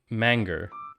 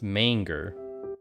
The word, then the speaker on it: manger: really just call it mango it's pronounced manger manger major from French which means to eat Moji anyway yeah it's